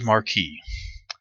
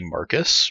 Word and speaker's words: Marquis: video and this is marquee and I hope I'm saying that right might be Marcus Marquee I I think the S is silent there this is a character